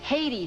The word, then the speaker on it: Haiti: roof of his mouth it's Haiti fella just plain Haiti you know there is